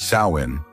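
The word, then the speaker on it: Samhain: in an ancient festival called samine pronounced sain a celebration held by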